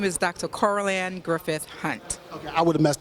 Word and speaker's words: Coralanne Griffith Hunte: Coralanne Griffith Hunte.